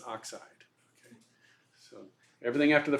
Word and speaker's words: oxide: and chlorine becomes chloride oxygen has three three syllables but we just take everything after that first syllable and put ey on there so it becomes oxide it's not oxy is oxide okay so everything after